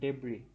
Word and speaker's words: debris: of the deep এটার প্রনাউন্সিয়েশনটা হচ্ছে ডেব্রি, শেষে স্টার সাউন্ড হবে না.